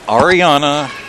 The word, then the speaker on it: Arianna: that is Oh Regalado it's Arianna Regalado okay and it's aria like music will let you sell